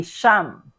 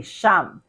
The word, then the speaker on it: siyam: We say sham. All right. This may be a bit confusing. You say sham.